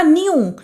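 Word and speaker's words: knew: Next है आपका न्यू, के और एन साथ में आ गया तो के को हम नहीं पढ़ेंगे।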